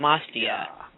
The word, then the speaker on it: Matsya: brain, is, and I'm going to say his name wrong, but I'm going to try really hard, Mastia, the fish, Mastya. Mastia.